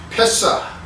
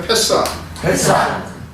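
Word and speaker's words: פסח: 히브리어는 패사. 한번 같이 발음해 보실까요? 패사.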